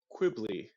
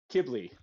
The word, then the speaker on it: Kibbley: Quibbly. Am I pronouncing that right? What was that? Ghibli, like with a K. Kibbley.